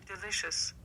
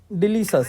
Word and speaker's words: delicious: अब next pronunciation सुनिएगा, ये क्या है। delicious, delicious, delicious, delicious, delicious, delicious, तो आपने सुना, इसको क्या बोलना आपने, डिलीशस।